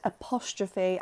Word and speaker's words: apostrophe: to fill the space say the word apostrophe after me it's quite tricky apostrophe your turn how many syllables ah b four syllables have a look and